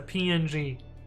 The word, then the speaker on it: PNG: Did you guys know that PNG is supposed to be pronounced ping?